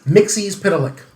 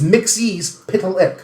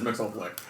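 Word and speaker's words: Mxyzptlk: K all right but the way that it's pronounced is Mixie pic okay it's mixes pic and people say mixx all the freaking time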